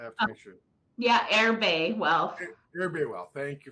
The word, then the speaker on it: Erbe: about um she's the CEO of is it Irby wealth I have to make sure yeah air Bay well everybody well thank you for the for